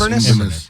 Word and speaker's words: Inverness: And the winner is the Cove Resort and Pub in Inverness. Is that how you say it? Yes, Inverness.